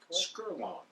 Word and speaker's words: Skerlong: Am I pronouncing that right, Herman? Correct. Skerlong.